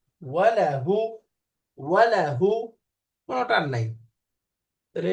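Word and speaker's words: وله: অনুশীলন কাসরার শব্দ কম দম্মা ওয়াও ফাতহা ওয়া লাম ফাতহা লা ওয়ালা ওয়ালা হা দম্মা হু এখন মিলালে কি হয় ওয়ালাহু ওয়ালাহু ওয়ালাহু কোনো টান নাই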